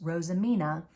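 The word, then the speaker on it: roosimine: of the work this is a technique called rosamina spelled r-o-o-s-i-m-i-n-e but pronounced that I learned from one of Alex's videos rosamina and what it means is to decorate with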